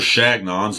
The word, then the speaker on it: Chagnon: Napoleon Chagnon I was reminded of the proper pronunciation of his name by a fan mr. Shannon's legacy is not one of summing the eyes